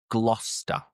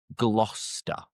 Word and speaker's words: Gloucester: Moving on to the third different place and this is Gloucester. Gloucester. And again, what you're probably thinking is glue, but forget the cester because it's just glouester glouester.